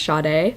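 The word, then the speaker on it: Sade: got to have the Audi book cuz it's pronounced shade she meets the girl her name's Elizabeth she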